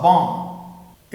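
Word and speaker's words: bomb: यानी कोई चीज बहुत महंगी हद से ज्यादा महंगी हो ना तो उसके लिए हम कहते हैं इट कॉस्ट अ बम।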